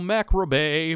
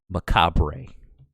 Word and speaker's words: macabre: spirit dybbic debbic paranormal macra bay pagan wiccan i know that's not how you say it it's macabre 100 it didn't get